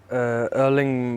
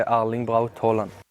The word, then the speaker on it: Erling: cleared up for us how to pronounce this name if you're not in no way you can say erling about Holland and if you're in no way you can say our link : there you go